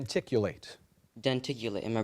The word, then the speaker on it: denticulate: early humans used for shredding food d ticulate denticulate am I pronouncing it correctly denticulate that is correct say say one more time